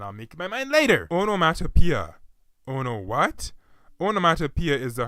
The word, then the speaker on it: onomatopoeia: The pronunciation of the word, however, is slightly less easy to understand because more than half of the 6-syllable word's 12 letters are vowels, and 5 of them are blended together at the end. Say what? O, no, on, o, mat, o, p, a.